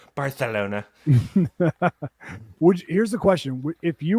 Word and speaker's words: Barcelona: And actually, it's pronounced Barcelona.